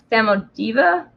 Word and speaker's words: Samodiva: Samodiva from Slavic folklore. That's spelled Samodiva, for anyone who would like to look that up and actually get the right pronunciation.